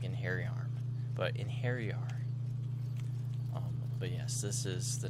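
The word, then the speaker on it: Einherjar: So I like when I hear Inheriar, what I actually hear is like in hairy arm.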